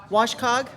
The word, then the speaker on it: WCOG: his time at wcog how do you guys pronounce it w wash Cog wash Cog all right see I'm from vcog